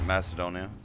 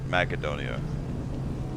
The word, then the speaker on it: Makedonia: go to Mecca donea or as as normal people pronounce it Macedonia I'm just playing that wasn't nice it's makedonia because there would be no C in the Greek language I never didn't understand where that word came from Macedonia there's no C so it's actually makedonia